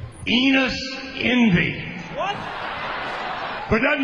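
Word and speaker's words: Enos: Enus rhymes with Venus.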